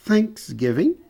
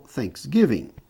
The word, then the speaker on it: Thanksgiving: Aqui o acento pode ser nesta ou nesta sílaba. Então você pode dizer Thanksgiving, ação de graça, né? Ou Thanksgiving. E aqui você pode dizer route, quer dizer rota, percurso, curso.